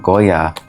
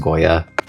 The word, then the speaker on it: Goya: I got a new nail drill, and it's from Goya. Was anyone ever going to tell me that this isn't pronounced Goy? It's pronounced Goya.